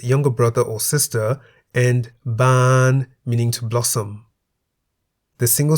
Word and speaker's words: บาน: For example, a, meaning father's younger brother or sister, and ban, meaning to blossom. The single syllable in the word a is a live